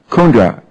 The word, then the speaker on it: Kundra: it right VC correct VC VC is it kundra or kundra KRA kundra emphasis on the first level ah good good